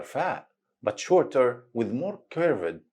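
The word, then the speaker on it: فاء: It's pronounced just like the English letter F.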